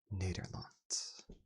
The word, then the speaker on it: Nederlands: Nederlands. Nederlands, Nederlands, Nederlands. For some reason, the first one sounded like very American. Nederlands, Nederlands, Nederlands. Het is gewoon Nederlands, Nederlands, Nederlands. Nederlands.